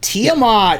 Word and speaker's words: Tiamat: comes tiamat right that's how you say it tiamat yeah say tiamat that's right i can't say